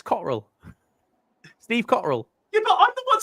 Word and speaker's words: Cotterill: Yeah, no, don't pronounce the T. The T's fucking a silent word in his name.